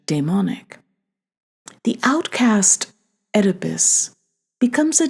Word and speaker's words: daemonic: This term, current in romantic studies of the past 25 years, derives from the Greek daemon, meaning a spirit of lower divinity than the Olympian gods. Hence my pronunciation, daemonic.